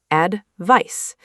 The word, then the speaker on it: advice: Advice is pronounced with an S sound at the end. Advice.